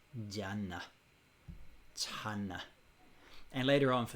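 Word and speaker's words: jhāna: In Pali, this is pronounced jhana.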